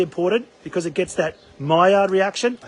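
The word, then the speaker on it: Maillard: sear is really important because it gets that myard reaction I said it right again you did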